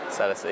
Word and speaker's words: Celestine: I don't know, I think Celestine. Is that how you say it? Celestine, yeah.